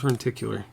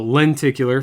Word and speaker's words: lenticular: one in four wears reticular I don't know also look it up o lenticular first of all I've been saying it wrong for twenty minutes yeah